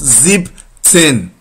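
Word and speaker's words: siebzehn: ten sixteen sex ten seventeen zip not zebra ten bus zip ten eighteen ack ten 19 9 10 and 20 20 20.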